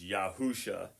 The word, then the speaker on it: Yahusha: Ah, thank you baby Jesus the pronunciation for the birth of the Christian savior is Yahusha.